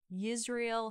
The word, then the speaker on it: Yisrael: So Buffalo Bill changed his name to Yisrael Hawkins, which is pronounced like Israel, but he spelled it Yisrael.